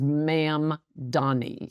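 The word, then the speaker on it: Mamdani: It's very hard to pronounce because in English there's no word that has a an M followed by a D. It's hard for your mouth to say anyway, but it's Ma'am Donnie.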